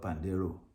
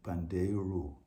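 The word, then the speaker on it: pandeiro: it's called Panda hero the Western called pandero but the Brazilian we pronounce it pandero with U at the end and they'll they'll play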